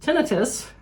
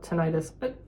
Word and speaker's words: tinnitus: more hearing loss, tinnitus, which I have learned is pronounced tinnitus, but nobody knows what I'm talking about. So I call it tinnitus.